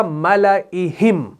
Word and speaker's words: مَلَئِهِمْ: 8واں ہے وہ ہے ملئہم، ٹھیک ہے، اس الف کو نہیں پڑھنا، یعنی یہ پڑھا جائے گا ایسے، ملئہم، میں نے الف کو ہٹا دیا تلفظ کے اعتبار سے۔ اور یہ آپ کو ملے